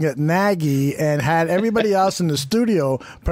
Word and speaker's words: Nagy: It's Trubersky, according to Nagy in Canada is Nagy, and he must be part Canadian.